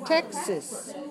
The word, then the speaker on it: Texas: Texas.